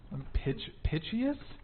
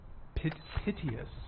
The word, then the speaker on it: piteous: Pitchious, like pitch, EOUS. Yeah. Piteous.